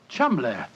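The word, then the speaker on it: Cholmondeley: is in no way pronounced the way it is spelled. Oh, Joe, I never thought of that. Chumlay.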